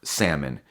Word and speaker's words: salmon: I mean, take for instance the word salmon. Now, why is there an L in that word?